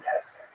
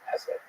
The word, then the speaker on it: Hesse: It was written by Hermann Hesse, and by the way, please allow me this pronunciation of his last name. I've heard some people say Hesse, but my whole life I've always said Hesse.